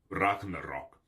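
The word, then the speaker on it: Ragnarök: this one a lot how do you pronounce Ragnarok in Olden orse it was pronounced Ragnarok oh that's the whole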